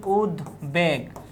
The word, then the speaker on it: উদ্বেগ: কিন্তু আমরা যদি বলি উদ্বেগ, উদ্বেগ, এই যে বফুলার উচ্চারণ কিন্তু আমরা পাচ্ছি, বা বয়ের উচ্চারণ কিন্তু এখানে বহাল আছে।